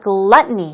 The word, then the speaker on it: gluttony: another synonym what about gluttony here we go stress goes on the first syllable gluttony gluttony oh you good not